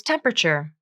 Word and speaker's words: temperature: is 80 degrees temperature it looks like it should be four syllables temperature but it's not it's temperature three syllables and the a is dropped from the pronunciation temperature notice how the